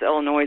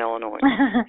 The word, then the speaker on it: Illinois: I do the same thing when somebody says Illinois. I'm like, that is not how you say it, because I was born in Illinois. So I'm like, it's not noise. Like, that's not how that's pronounced.